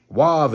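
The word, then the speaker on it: Waw: When you look up Wav in the classical Hebrew, which means the original, Wav is pronounced Wav. It's not pronounced nothing else. The V and the U came in modern times, so it can't be Jehovah.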